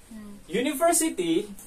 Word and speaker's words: university: e not en Because it is pronounced with consonant sound do you understand ya